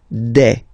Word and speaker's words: des: Okay, and then the plural form, des. All right, here s you pronounce it like e. Okay, un, une, des.